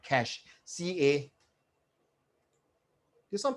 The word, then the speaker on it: cache: cash memory okay so that's pronounced cash it's not cashier it doesn't pronounce cache